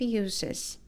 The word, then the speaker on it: uses: A food processor has a variety of uses, ok? Aqui a gente já vai ter o som de S, porque nós estamos falando de um substantivo, ok?